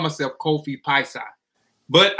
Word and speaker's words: Piesie: I called myself Kofi Piesie, but I didn't pronounce the Piesie right for years. I still say Piesie because everybody still pronounce it as Piesie, but I know it's Piesie.